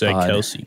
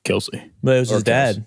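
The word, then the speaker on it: Kelce: that right no it's just the pron the pronunciation is actually supposed to be Kel Kelsey yeah he was like yeah it's Kelsey it was his dad his dad Dad yeah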